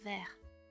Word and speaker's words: vers: Par ailleurs, on ne prononce pas le S dans vers.